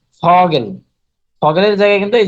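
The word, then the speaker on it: Vogel: এটা হচ্ছে ফ এর মতো উচ্চারণ হবে, যেমন ধরেন ফগেল।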